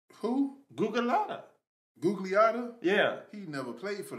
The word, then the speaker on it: Gugliotta: Gugalada? Who? Gugalada. Gugliotta?